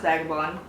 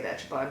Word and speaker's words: Vagabond: Doesn't really matter how you say it, it's pronounced Vagabond correctly, but a lot of boys in high school used to say Vagabond to make fun of me, so whatever you want to say floats my boat.